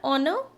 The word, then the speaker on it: honor: It's an honor, okay, because again H is silent, O is giving sound of a vowel.